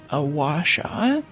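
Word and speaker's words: gua sha: My friend recommended me this thing called a a wash. Um, it's spelled gu a s h a but is basically this piece of metal.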